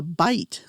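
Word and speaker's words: bight: Now you've got what is called the bite and that's spelled b i g ht.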